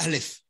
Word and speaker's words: Aleph: Hein, on dit Alep, mais c'est Aleph.